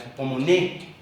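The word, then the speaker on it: ὑπομονή: Y por otro lado tenemos el jup el jupomoné, porque termina con acento en la el jupomoné, que es la actitud ante la vida que debemos vivir nosotros.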